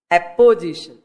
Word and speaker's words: apposition: Not OPP, but APP. Apposition. Not opposition, but apposition. Pronunciation. Apposition. APPOSITION.